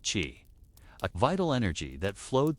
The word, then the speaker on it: qi: Chinese medicine was built upon the concept of qi, pronounced qi, a vital energy that flowed through all living things and connected the individual to the cosmos.